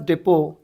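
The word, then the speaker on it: depot: Next क्या है अपने पास, डिपो। कल भी बताया था मैं, डिपो बोले तो टी क्या हो जाता, साइलेंट हो जाता।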